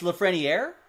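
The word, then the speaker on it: Lafrenière: nice for king wait you pronounced the r in lafret what have i been saying it's lafreniere is that what you're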